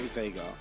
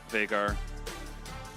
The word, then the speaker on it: Vega: How do you say Vega? I say Vega. Vagar. Yeah. I don't think anyone says Vagar.